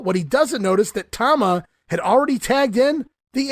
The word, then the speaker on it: Tama: no-selling Jimmy Powers, while Jesse Ventura continues to pronounce the name, it's Toma. As Gorilla finally corrects Jesse on the pronunciation, no, Jess, it's Tama.